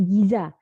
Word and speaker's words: gizi: Baik, pengertian gizi sendiri adalah di Indonesia, istilah gizi diadopsi dari bahasa Arab, yaitu namanya giza. Nah, ini yang di dalam dialek Mesir dibacanya gitu adalah gizi.